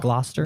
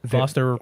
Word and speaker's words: Gloucester: Glouster. This is one I actually am unfamiliar with. This is fairly 100%. Glouster Rhode Island. Uh, no. Glouster uh Mass.